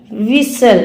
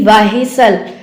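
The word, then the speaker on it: whistle: एच से पहले अगर डब्ल्यू आता है, जैसे कि देखो वाट, वैन, वेयर, विसल, ना कि वाहिसल, वायर, वाहन, वट।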